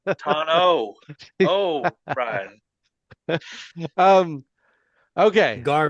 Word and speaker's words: Tano: Tanu tano.